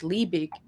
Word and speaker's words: Liebig: And I was like, who is Libby? I was looking up like Justice von Libby, but it's like it's Liebig, and in German it's spelled Liebig.